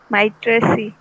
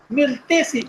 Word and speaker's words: Myrtaceae: Yes, pronunciation may be wrong, but I think you are correct. Which one? Mitraceae. Myrtaceae, Myrtaceae, Myrtaceae.